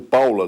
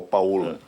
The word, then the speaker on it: Paola: Aqueles que forem consultar pelo nome, lembremos que o Paula dela é o Paula italiano, que se escreve Paola, que aqui no Brasil se tem o mau jeito de se pronunciar como se fosse com O, Paola.